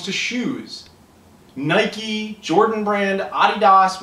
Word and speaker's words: Adidas: Um, so but I'll bet you at the same time when it comes to shoes, Nike, Jordan Brand, Adidas, which is how it's actually pronounced, uh, those companies see